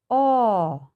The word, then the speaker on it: অ: তো এই স্বর অকে আমরা এভাবে উচ্চারণ করব, স্বর অ, অ।